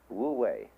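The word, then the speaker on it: 无为: It's called in Chinese Wu Wei. Wu, non-wei, striving. In Japanese, Mui. I is Japanese of pronouncing the Chinese Wei. Mu is Chinese Wu. Mui, as distinct from Ui.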